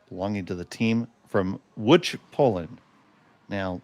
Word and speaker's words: Łódź: And it is the hammer belonging to the team from Łódź, Poland. Now, that is spelled l o d z, but it is pronounced Łódź.